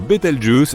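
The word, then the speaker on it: Bételgeuse: Quant à la manière de prononcer correctement Betel Je, tu peux le faire comme bon te semble. Tu peux même dire Betel Juice si tu en as envie.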